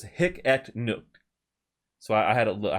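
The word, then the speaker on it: Hic et Nunc: a decentralized application so it's oh so it's hicket nuke so i had a i had it not pronounced right uh but you know it's another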